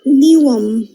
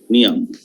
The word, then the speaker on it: Newham: নিওয়াম। মারিয়া, শাবাশ। মারিয়ার উচ্চারণটা ঠিক আছে। এটা কিন্তু হ্যাম উচ্চারণ ওরা করবে না।